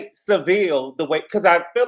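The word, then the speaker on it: Sevilla: And she let us know that it is not Seville. Americans say Seville, but it's really Seville.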